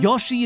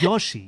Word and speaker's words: Yoshi: A's sounding the same we say Yoshi American o and a merge it gets us every time Yosi is yashi it's Yoshi it's just one of these big fundament you don't know how to say the letter O because you live in a country where the letter O doesn't exist it's not our fault it's